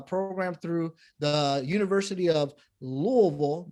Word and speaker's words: Louisville: through the university of louisville that's the right way to say louisville by the way it's louisville uh i had to